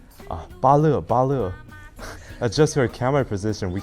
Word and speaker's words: Bale: It's like my English name is like Bale, like B-A-L-E, right? So it's like when you regard it as a Chinese like pinyin name, so it's like B-A and L-E is separated, and someone